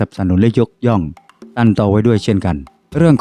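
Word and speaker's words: 陳到: ๆ ของ ตัน เตา ตัน เตา สำเนียง จีน กลาง ออก เสียง เฉิน เต้า ชื่อ รอง ก็ คือ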